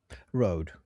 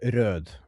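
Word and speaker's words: Røde: Rode. Or Röd, because that's not how you pronounce that letter. That is our letter. The O with the like, yeah. The company can say what they want, but they got it wrong.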